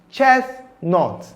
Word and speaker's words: chestnut: We have the word chestnut. Chestnut, not chestnut. It is chestnut.